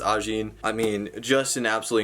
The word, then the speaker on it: Ajin: I believe it's pronounced Ajin.